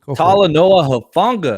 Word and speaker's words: Talanoa Hufanga: What kind of impact do you think Tanala, I can't pronounce his name. Talanoa Hufanga.